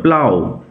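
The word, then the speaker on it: plough: উচ্চারণ লক্ষ্য করো। প্লাও প্লাপ নয়।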